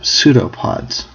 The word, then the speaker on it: pseudopod: which are called um pseudo pods a pseudo pod with silent P um are basically cytoplasm